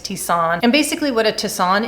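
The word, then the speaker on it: tisane: about from tender flower is tissan or tisain i'm never too sure how to pronounce this word but i think it's tisan and basically what a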